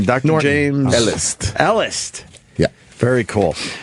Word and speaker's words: Elist: you say your last name Dr James Ellis Ellis yeah very cool spell it e l i we were uh we